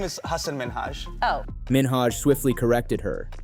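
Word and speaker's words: Hasan Minhaj: influence an individuals experience the real way you pronounce it and this is a big deal cuz my parents are here it's Hass minhaj the nuance of the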